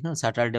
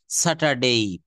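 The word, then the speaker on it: Saturday: দেখবেন সাতটা বারের নাম এখানে আমরা স্যাটারডে বলি স্যাটারডে মানে শনিবার নো এটা রাইট আন্সার হবে রাইট প্রোনাউন্সিয়েশন স্যাটারডেই ওরা কিন্তু ইংরেজরা কিন্তু এই র এই যে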